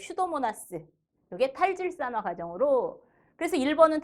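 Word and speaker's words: Pseudomonas: 앞에 피 써 있는 그 피는 묵음이에요. 그래서 슈도모나스.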